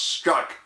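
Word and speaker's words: Strzok: team now the team leader agent peter s-t-r-z-o-k pronounced struck is out but his team is still around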